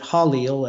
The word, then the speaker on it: Jaleel: And it's spelled Jaleel, but he pronounces it Halil as an H, and says that he is the 12th seat of the Council of Shambhala.